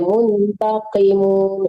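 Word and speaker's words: مُنْتَقِمُون: nabtisul baqatal kubra inna muntakimun Balik lagi. di qafnya membaca qafnya itu kalau kasrah ibu tetap bacanya tebal ya, muntaqimun. Memang asli qaf itu hurufnya tebal, jangan dibaca ki tapi qi.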